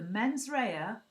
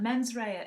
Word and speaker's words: mens rea: a criminal act you have to have the men's Raya which is the mind and the actus Reyes